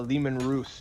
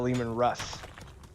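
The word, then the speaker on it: Leman Russ: military battle tank but it's the lehman ruse not the lehman russ i'll take your word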